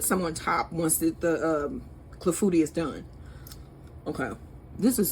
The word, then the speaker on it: clafoutis: Let me look at this again, cause I don't want to mispronounce it. Clafoutis.